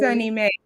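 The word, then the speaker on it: SONYMA: oh soon government no sunny s-o-n-y-m-a and it's pronounced sunny may because they think for the new yorkers okay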